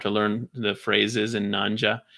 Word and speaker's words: Nyanja: And even in Google, you can Google stuff for phrases in Nanja. It's spelled like Nyanja. So Nyanja, Nya is the spelling at the front.